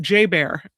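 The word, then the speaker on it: JBER: They pronounce it J Bear.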